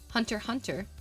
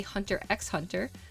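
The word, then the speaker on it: Hunter × Hunter: We don't we don't pronounce the X.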